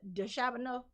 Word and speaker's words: DeChambeau: DeChambeau. How do you pronounce it?